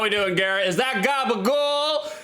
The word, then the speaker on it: gabagool: Is that gabagool? You gotta say it like Tony Soprano though.